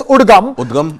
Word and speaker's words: UDGAM: The Reserve Bank of India has now set up a web service, a web portal called, it's pronounced, we can pronounce it as UDGAM.